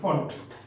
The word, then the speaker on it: Pfund: इस सीरीज को बोला जाता है कौन सी series, फंड series, PFUND, फंड, है, P साइलेंट रहता है, इसको बोलते हैं फंड सीरीज।